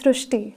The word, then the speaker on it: Srishti: So in Marathi, the word Ri is pronounced as Ru. So that is why the pronunciation goes Srishti.